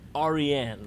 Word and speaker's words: Aryan: And it is a Persian name. It's pronounced Aryan.